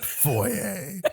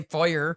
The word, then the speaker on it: foyer: pretty good oh yeah now if only everybody else in indiana said foyer they say fire oh so they're all